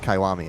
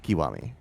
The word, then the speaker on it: Kiwami: the the the emphasis is on the first syllable it's it's the same way he always said kawami as well instead of kiwami but I I didn't really no I'm just